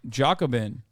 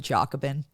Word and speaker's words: Jacobin: your real work on Jacobin have you always pronounced it Jacobin yeah how are you supposed to pronounce it Jacobin oh really yeah I guess I've been wrong I didn't realize this